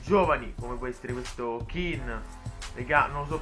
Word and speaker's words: Kean: sono anche altri giovani come può essere questo keane fricano si pronuncia anche lo stop è niente che hanno chin ho kelly no ken è quello delle barbie